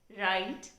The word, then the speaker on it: write: go without being pronounced for example k in no and w in right they are not pronounced yet they have to